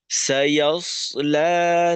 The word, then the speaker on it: سيصلى: لهب এখানে সত্য মোটা হয় ইয়াস লা, ইয়াস যেন এখানে ইয়াস লা হয়ে না যায়, অর্থাৎ সদের উচ্চারণটা যেন সিনের মতো না হয়, সদকে স্পষ্ট রাখা।